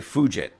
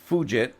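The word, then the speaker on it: Fugitt: Now, I'm going to try to say this word because the way it looks like it should be pronounced, ladies and gentlemen, almost sounds like a swear word to me, but the it's David and his last name is f u gi tt.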